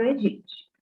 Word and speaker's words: aegypti: E também o gênero, Aedes, como Aedes e Aegypti são palavras em latim, a gente não pronuncia o primeiro A. Então, o certo é pronunciar Aedes aegypti. É como se não tivesse os dois primeiros A's nessas duas palavras.